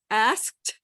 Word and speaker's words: asked: Asked has 1 vowel, 1 syllable, and ends with 3 consonants.